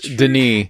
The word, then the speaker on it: Denis: I've always said Villanueva, but there are times whenever you watch interviews, whenever someone says Denis, because it's not Dennis either, it's Denis.